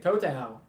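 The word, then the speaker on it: Tou Thao: this name this is funny how do you pronounce to town let's look this up let's see this total okay toe Tau that's his name the former Minneapolis police officer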